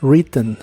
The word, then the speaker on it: written: escribió algo para ti en el pasado participio es written la W tampoco se pronuncia en esta forma forma